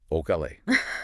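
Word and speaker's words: Ocale: Okal, pronounced like modern Okala.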